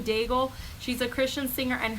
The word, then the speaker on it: Daigle: I was saying it wrong before, Diago. It's Lauren Daigle.